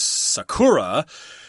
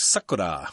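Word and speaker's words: さくら: But I did want to also say that I guess if you're using English pronunciation, you'll pronounce this word as Sakura. And I think in Japanese, it's more like Sakura or something like that.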